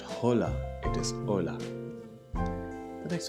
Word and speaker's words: hola: Hola. Remember, H is silent. So it is not hola, it is hola.